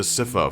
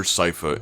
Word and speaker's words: Sypha: And if you're going to come down on me in the comments about my pronunciation of Siffa, feel free to pretend I called her Sypha instead, so that it fits into your nerdy Netflix universal continuity. It's Siffa though, if you're curious.